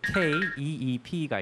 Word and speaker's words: keep: 그러니까 뭐뭐를 가지고, 뭐뭐를 놓다, 뭐뭐를 가지고 있다 할 때 K-E-E-P가 있잖아요.